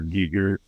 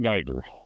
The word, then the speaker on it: Giger: Amazing like Lovecrafty and horror film HR Giger inspired creatures. Oo, great. Is that Is that the common pronunciation nowadays? It's giger, not geer.